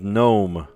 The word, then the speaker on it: gnome: Psych, mnemonic, knee, and gnome. Sounds the same if you drop the first letter.